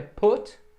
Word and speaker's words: put: No presente é put, no passado é put. Não é put. Às vezes a gente quer americanizar e dizer presidente Bush, put, mas aqui a pronúncia não é assim, é put, ou presidente Bush. Mas não vem ao caso. Aqui é o verbo pôr ou botar, no passado ele tem a mesma pronúncia, put.